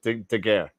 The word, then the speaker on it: Daguerre: Wait, how did you pronounce it? I forgot. It's a Daguerre.